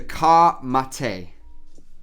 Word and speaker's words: Ka Mate: but I'll spell it for you as well. Question number 13. The Ka Mate, Ka space M-A-T-E, Ka Mate, is a Maori war cry more commonly known as what?